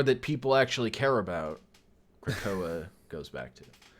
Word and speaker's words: Krakoa: I don't know how to pronounce it. Is Krakoa? Sure. Krakoa, yeah.